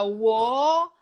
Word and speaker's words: world: Você dá uma enrolada na língua, fala o L e fala o D. É difícil mesmo. World. Yes. Perfect. World. Tipo, tem quase que 2 sílabas. World. Imagina. World. Luiz, imagina que tem um O depois do R. World. Fechou. World. Yeah. World. Ok. E o D é menos forte, tá?